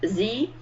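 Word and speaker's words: ze: that are gender neutral it's pronounced Z and here they replace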